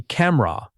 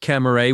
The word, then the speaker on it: camera: Same pattern again. It should be camera. Two strong syllables, not camera with three.